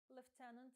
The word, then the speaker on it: lieutenant: Second lieutenant може брати на себе командування взводом – a platoon. Увага! Слово лейтенант має два варіанти вимови. В британській англійській це lieutenant, в American English – lieutenant.